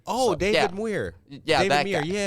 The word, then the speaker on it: Muir: It's like M-U-I-I, but it's pronounced Mew. Oh, so, David Muir.